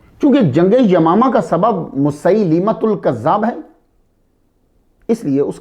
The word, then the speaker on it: مسیلمۃ: مسیلمۃ۔ لام کے نیچے زیر ہے، ہم تیزی سے لام کو ساکن پڑ جاتے ہیں، مسلمہ۔ مسیلمۃ۔ حضور صلی اللہ علیہ